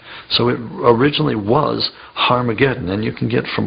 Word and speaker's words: Harmageddon: aspirant at the beginning meaning it's pronounced with an H so it originally was harmageddon and you can get